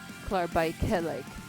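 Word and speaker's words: klaarblijkelijk: The E is more explicitly pronounced. Klar bei kleik. Klar bei kleik. Klaarbijkelijk.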